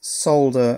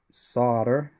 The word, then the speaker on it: solder: That's solder with the silent L that you Americans pronounce solder. Don't know why that is. Why should that have a silent L?